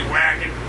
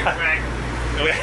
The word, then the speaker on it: Wacken: I'm saying this wrong, is it pronounced Bakken Tour Festival? That's festival, yeah, in Europe, a lot of times they put a V where we just say Wacken. You know, we just say Wacken.